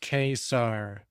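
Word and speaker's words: Ka-Zar: when I'm that crazy Kar is pronounced k star this is stated in the opening pages of the issue yeah so AI got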